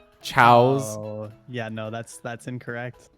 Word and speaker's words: Chao: Chao is Chao. The plural of Chao. All right, is Chao. If you put an S on it, it's chaos. It's and chaos. That's a different character.